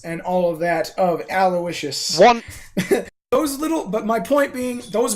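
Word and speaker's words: Owlowiscious: continuous misspelling of Aloysius, because it is Aloysius, it is not Aloysius.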